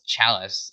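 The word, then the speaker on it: Challis: atkins character um or actually i've been pronounced as his last name wrong this entire time it's chalice i just remembered um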